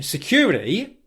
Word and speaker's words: security: What Prince Harry has done here is he's pronounced the word security with a D pronunciation, security, instead of security.